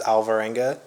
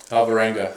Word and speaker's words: Alvarenga: uh so i'm gonna it's not pronounced properly but my last name is alvarenga alvarenga yeah but it's a hispanic so if you wanna hit it with a hispanic accent sure i don't because